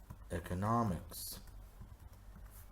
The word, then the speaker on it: economics: Economics. Economics. Economics. Where do you think the strong syllable is? Very good. It's here. Nah. So, economics. Good job.